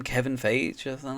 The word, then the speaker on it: Feige: And two, I think is it his name Kevin Feige or something like that? Like Kevin Feige, Feige.